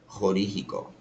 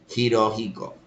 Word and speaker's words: Hirohiko: Araki Horihiko. Sorry, I butchered the name. Hirohiko.